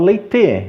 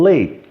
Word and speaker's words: late: eu não falo leite, eu falo late.